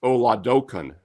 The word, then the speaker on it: Oladokun: And by the way, it's Oladokun. Oladokun. I looked up the pronunciation. Yeah, La and Kun.